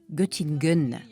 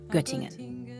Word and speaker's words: Göttingen: comme c'est charmant notamment quand elle dit gtingun gtingen au lieu de gtingen ce titre que Barbara